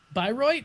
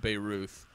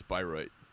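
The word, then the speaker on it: Bayreuth: say things again and she used to say that beay Ruth but I'm pretty sure it's byro if you're German please our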